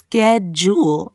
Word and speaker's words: schedule: Example, practice schedule as sked jewel until it feels natural.